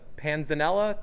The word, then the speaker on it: panzanella: It's a panzanella salad?